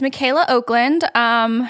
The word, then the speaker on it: Michaela Okland: It's spelled weird. Yes. It's Michaela Okland.